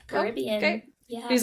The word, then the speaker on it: Caribbean: The movie is Caribbean, but nothing but else it's the is.